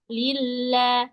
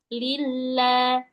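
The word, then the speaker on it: لِلَّهِ: Nanti dilillanya jangan kita tekan banget sampai jadi lilah. Suaranya hilang. Seperti hilang tapi enggak sampai hilang. Masih kedengar. Lillah. Lembut. Lillah. Iya, Ustaz.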